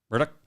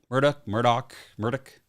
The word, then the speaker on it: Murdaugh: circumstantial on this um Alec pronounced his name Alec yeah Murdoch Murdoch yep um all right if